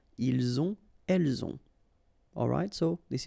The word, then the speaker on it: ont: the two, vous avez, ils ont, okay, final T not pronounced, and then we make the liaison, ils ont, elles ont.